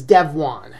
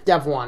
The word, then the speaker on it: Devuan: on my live stream corrected me on the pronunciation it's dev one dev one is the pronunciation all right so no